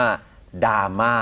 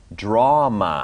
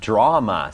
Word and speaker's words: drama: ก่อน นะ ครับ 1 มัน ไม่ ได้ ออก เสียง ว่า ดราม่า นะ ครับ ดราม่า จริง ๆ มัน จะ ออก เสียง ว่า drama นะ ครับ drama ซึ่ง อัน นี้ มี